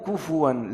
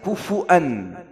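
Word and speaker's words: كُفُوًا: na'am, di depan mencong yakul kufu, kufuwan ya, kufuwan ahad, ada yang bacanya kufu'an kufu'an ini juga benar tapi di qira'ah yang lain Hafsh an Ashim, Hafsh Ashim kufuwan ada qira'ah yang lain, kufu'an, pakai hamzah tapi di Indonesia dan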